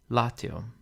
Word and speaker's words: Latium: the first one Rego next we have Latium where the penal is short so the accent falls on the anti penal Latium with habitus the penal